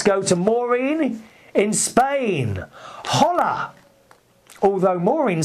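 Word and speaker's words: hola: to Morin in Spain holla although Morin says holla Christopher and then she puts in Spain in Spain we don't pronounce the ha so it's h thank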